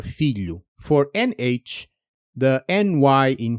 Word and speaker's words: filho: Million gets you most of the way to lh, and if you slow that word down and isolate the middle sound, you can transplant it straight into trabalho or filho.